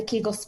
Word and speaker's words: Kegel: and it does the kegels for you and she pulled me aside and she said if you're going to do this you might want to pronounce it correctly and say kegel and i was like